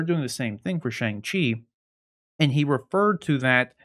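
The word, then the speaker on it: Shang-Chi: during the thing that god's the star of chang chi shang or shang chi as we now know it is pronounced in the film chang chi chung chu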